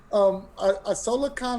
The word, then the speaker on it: IsolaCon: to talk about us Isola Khan is that that's correct that is pronounced correctly Isola Khan is a charity come